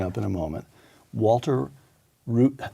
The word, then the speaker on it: Reuther: to the blowing up in a moment Walter root how was that pronounced Luther Luther Walter Reuther 1907 nineteen seventy built the United Automobile Workers